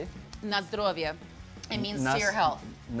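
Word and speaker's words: na zdrowie: Na zdrovje.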